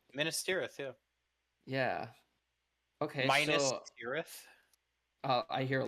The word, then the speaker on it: Minas: Andy Yeah, Serkis says Menace, so Andy that's there Serkis you is go. right. guys, Then that's how they say it in the movies it's too. Minus.